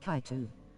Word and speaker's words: Kato: Kato equals Kaitu.